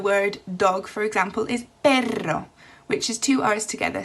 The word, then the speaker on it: perro: syllable so for example you have the word perro so two syllables and the stress is on the first syllable for example have is